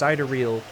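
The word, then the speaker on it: sidereal: three systems uh uh I always forget how to pronounce this one correctly but I believe it's cideral uh Then uh there's the International Astrological Union.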